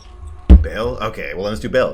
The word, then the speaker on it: Baal: Anyone that plays Diablo 2 would pronounce that Baal. Baal?